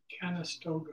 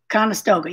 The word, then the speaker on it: Conestoga: Conestoga wagon. Conestoga, yeah, I think that's what you said. Oh, Conestoga, yeah.